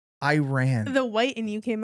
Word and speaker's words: Iran: You cannot say Iran. Why? Because that's not how you say it. Iran. Iran.